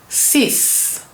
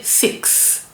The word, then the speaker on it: six: We don't say six like in English. we say sis because that x we pronounce it s the s sound.